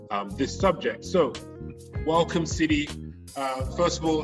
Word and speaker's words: Tseli: to talk about um this subject so welcome city uh first of all how are you doing